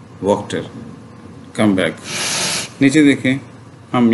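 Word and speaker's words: Wachter: ये है असल में फॉरेन वर्ड है ना, ठीक है, लेकिन उस लैंग्वेज में थोड़ा डिफरेंट होगा, लेकिन अडॉप्ट करके इंग्लिश में इसे वक्त जो है वो प्रोनाउंस करते हैं, वॉशर या वाटर की बजाय वॉक्टर।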